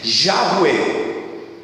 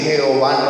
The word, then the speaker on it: Yahweh: Yahweh, que es la pronunciación más que dicen los judíos, que es la más adecuada del nombre en hebreo. Ya sabemos que Jehová no es, pero como nosotros hemos